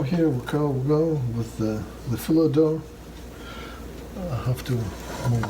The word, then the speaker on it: Phyllo: Do not pronounce it Phyllo dough. Do not. It's Phyllo. Phyllo.